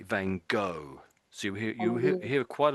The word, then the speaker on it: Van Gogh: I say um you're saying Van Go. Um Van Go. Yeah. Say again. Wang. This is a tricky name to pronounce.